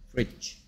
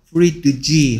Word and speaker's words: fridge: fridge. 이렇게 d하고 g가 연달아 있을 때는 d가 발음이 되지 않습니다. fridge 하면 발음이 어렵기 때문에 그냥 fridge. fridge.